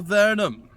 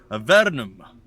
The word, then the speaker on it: Avernum: with our adventures in the land of the verdum see let's say it right a vernum escape from the pit i don't know why